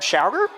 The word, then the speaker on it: Schauger: And our head referee tonight, Schauger. That how you pronounce his name, I hope. That is correct.